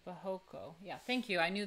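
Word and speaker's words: barroco: yeah by the way in portuguese it's pronounced something like bohoko yeah thank you i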